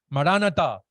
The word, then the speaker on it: Maranata: Maranata, se pronuncia mayormente de esa manera.